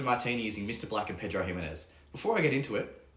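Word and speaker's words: Pedro Ximénez: So yeah, basically it comes from Jerez in Spain, or Pedro Ximenez is the correct pronunciation with the accent.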